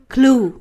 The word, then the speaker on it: clue: อ่าน ว่า อะไร อ่าน ว่า คิว หรือ เปล่า ไม่ ใช่ อ่ะ เข้า นี้ นะ คะ ถ้า ไม่ รู้ ว่า อ่าน ว่า อะไร ลอง เทียบ กับ คำ ว่า b l u e t แปล ว่า สี น้ำเงิน b l u e r อ่าน ว่า บลู ดัง นั้น เขา มี